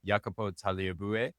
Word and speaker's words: Jacopo Tagliabue: I'm super excited about our guest, Jacopo Tagliabue.